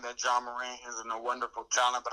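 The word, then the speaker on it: Ja Morant: Is that how you pronounce his name? John Morant, yeah.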